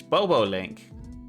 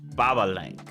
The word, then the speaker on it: Bobolink: about the baba link you might think it says bobo link but it's pronounced baba link i i called the bubble link when i first shot boob no it's not booba link it's not a booba